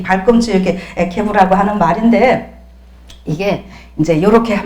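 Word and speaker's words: עקב: 에케브라고 아케브 뭐 이렇게 발음을 하는데 발꿈치, 그 다음에 발자국, 군대의 제일 끝이다 하는 이런 의미가 있습니다.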